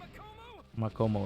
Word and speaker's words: Makomo: But those two, so the two kids that Tanjiro was training with, Sabito and Makoma, I think is how you pronounce her name. You were the one that killed Sabito and Makomo?